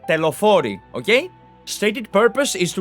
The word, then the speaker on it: Telophoroi: So I will pronounce it in the Greek way. It is the Telophori, okay?